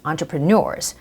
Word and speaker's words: entrepreneurs: not entering its entrepreneurs entrepreneurs so the stress goes on entrepreneurs the last syllable alright so entrepreneurs that's